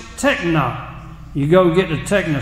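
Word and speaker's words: τέκνα: The word is pronounced techna. You go get the techna shot. We need a techna shot against the devil so we'll stand up for God. Amen, brother. Techna. The word is techna.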